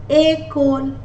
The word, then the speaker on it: École: E with an accent aigu is pronounced as A. École.